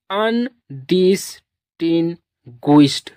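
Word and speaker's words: undistinguished: को आप लोग पढ़ेंगे ड तो इसको पढ़ेंगे अन डिस टिन गुस्ट अन डिन गुस्ट पूरा वर्ड का प्रंसिएशन हो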